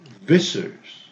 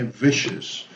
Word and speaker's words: vicious: neighbor no neighbor neighbor and this i o u s which the three letters are pronounced like sha this is a very difficult one sometimes but you have to do it just with one sound anxious don't say anxious no anxious anxious or cautious or visous vicious okay vicious so um uh this is